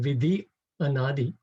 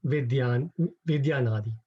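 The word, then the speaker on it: viddhy anādī: So if instead of saying Vidhi Anadi, you say Vidyanadi. So that removes one syllable. Otherwise, it doesn't fit into the meter.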